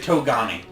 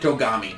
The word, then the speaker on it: Togami: gommi they pronounce it kogami in the anime the quran topography well the anime is wrong and here they pronounce it togami okay fine well they